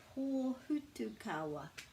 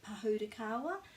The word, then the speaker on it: pōhutukawa: So our New Zealand Christmas tree is the pōhutukawa. Pōhutukawa. Pōhutukawa. Lots of people say pahutakawa, but it's actually pronounced pōhutukawa.